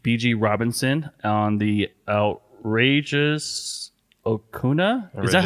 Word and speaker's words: Okona: Robinson, on the Outrageous Okona? Is that how you say it? Yeah. Okona.